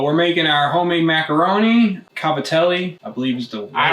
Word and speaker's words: cavatelli: Cavatelli, I believe is the... I don't even know what it's called. The right way to say it. My mom always called it Gavadeel.